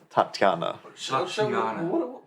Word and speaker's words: Tatiana: with what was her name to tanya tanya tatiana wait so we were pronouncing it wrong last night you were might just let you guys oh yes but the correct pronunciation is tatiana yeah and you guys yeah you ended up